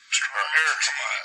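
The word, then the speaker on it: ἔρχομαι: Pronounce it. Erchamai.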